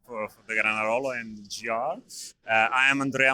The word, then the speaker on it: Granarolo: Uh we are here at Granarono and I'm speaking with Yeah. Uh correct. First of all, correct pronunciation for for the Granarolo and GR.